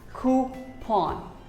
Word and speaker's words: coupon: may even say coupon but actually it is pronounced as coupon who pawn coupon here's a very common word that we